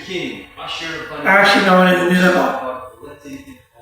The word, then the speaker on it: Nineveh: Gilgamesh, the Syrian king Ashur-bani, actually known as Nineveh. It's actually pronounced Nineveh.